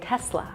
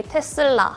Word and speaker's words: Tesla: In the USA we would say Tesla.